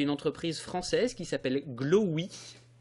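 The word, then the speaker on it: Glowee: Et par exemple, vous avez une entreprise française qui s'appelle Glowy. J'essaie de bien le prononcer parce qu'en français, il peut y avoir une mécompréhension un peu gênante. Glowy, G-L-O-W 1 ou 2 E, ou peut-être même 3.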